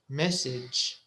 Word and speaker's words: message: group we talked about the ending gage it's written a g e but you pronounce it itch message luggage language village sausage manage so it's an itch sound so we talked